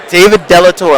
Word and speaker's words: David de Lautour: here at Power morphon 2024 with David delator David delator am I saying it correctly that's it I